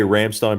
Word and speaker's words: Rammstein: How do I say Rammstein properly? Rammstein. That's how you pronounce it in German.